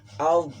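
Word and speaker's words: الضَّالِّين: Setelahnya ada bendera di huruf do, itu ada tasdid kan. Jadi kita harus membacanya dengan tebal karena tasdid. Hukumnya juga berbeda ya. Al-dolin, hukumnya adalah mat mat lazim musaqqal, mat farqi ya, mat farqi.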